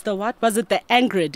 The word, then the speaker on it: Angered: And it was the, what was it, the Angrid? Am I saying it right? Is it angered or angered? Angered. Whoa, I was way off.